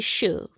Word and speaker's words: Chou: as spring Pearl online her name is spelled Cho but it's actually shu um so it's very